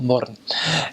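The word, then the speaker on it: Mürren: You go in the north, they've got a place called Little Switzerland, called Murren, which is spelled moron, but call it Murren.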